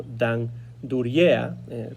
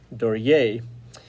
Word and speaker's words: Duryea: que generalmente en España se conoce más como Dan Dura, pero realmente su apellido se pronuncia en inglés Dori.